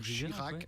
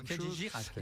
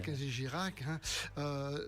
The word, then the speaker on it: Kenji Girac: et cette année-ci c'est Kenji Girac. Je ne sais pas si je le prononce bien, parce Oui, que absolument, de dire Kenji Chirac. Girac. Non, Kenji Girac. Kenji Girac.